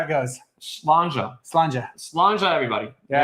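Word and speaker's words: Sláinte: of of Europe, they they have a bunch of letters and then they don't pronounce half of them. That's right. I don't get it. That's how it goes. Slanja everybody.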